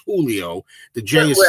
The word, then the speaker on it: Julio: First of all, his name's not Julio. It's Julio. The Jay is silent.